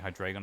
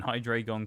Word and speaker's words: Hydreigon: I mean, even in Gen 5, when Hydreigon came out, or Hydreigon, I guess, is the correct pronunciation, isn't it? 'Cause it's, it's supposed to be German numbers.